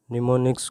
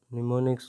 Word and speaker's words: mnemonics: In assembly level language, symbolic codes are used called as mnemonics code. Mnemonics code M is silent mnemonics code.